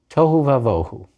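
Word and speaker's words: תֹהוּ וָבֹהוּ: So instead of being pronounced as b, the bet is pronounced as v, tohu vavohu.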